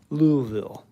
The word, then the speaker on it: Louisville: Kentucky very cool Louisville or actually I said that wrong it's Louisville louville I know the proper pronunciation I have a coworker who's right near Louisville and he has explained it thoroughly you can't say Louisville you can't say Louisville it's Louisville Alex AO hey there